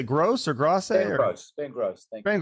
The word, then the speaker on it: Grosse: Is it, how do you say, Gross or Grosse?